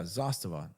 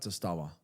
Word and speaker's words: Zastava: opinions on Zastava wait how do you say that yeah zastavon not justawa Zastava m19 I mean it's